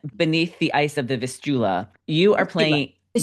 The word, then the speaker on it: Vistula: So, in Beneath the Ice of the Vistula, you are playing Vistula. Vistula.